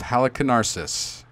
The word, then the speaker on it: Halicarnassus: The mausoleum of Halicarnassus. Narcissus. I think that's how you say it. It's like narcissist, but Oh, Halicarnassus.